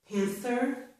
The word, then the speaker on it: panther: Here is one exception. This is the word panther. In this word, the TH is the voiceless TH.